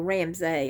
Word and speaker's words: Ramsay: name is deanne ramsey well ramsay i believe is how it's pronounced because it's r a m s not e-y yeah so anyway my